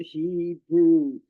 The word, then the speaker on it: Hebrew: The word of the day today is the word Hebrew. This is pronounced phonetically as he, H-E, brew, the long O sound, B-R-O-O, which is a noun.